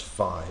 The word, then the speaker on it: phi: That's PHI, that's a Greek letter. Sometimes you'll hear it pronounced phi, but I believe the correct pronunciation is phi.